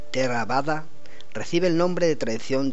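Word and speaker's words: Theravāda: práctica c tero terada esta escuela budista que se pronuncia terada recibe el nombre de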